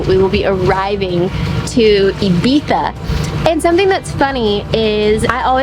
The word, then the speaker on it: Ibiza: Spain, and she also told me that it's pronounced Ibiza.